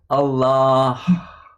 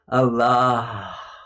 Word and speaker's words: Allah: Yeah, and you say it like this. Allah. There's air coming out after the last ah. Allah.